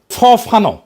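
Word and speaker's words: Fanon: হবে ফরাসি আলজেরিয়ান চিন্তাবিদ ফানো ফানো নাম আসল উচ্চারণটা উনি বলছিলেন পরাধীন জাতিগোষ্ঠী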